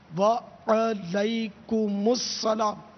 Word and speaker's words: وعلیکم السلام: وعلیکم السلام درست اس کا تلفظ ہے، وعلیکم السلام.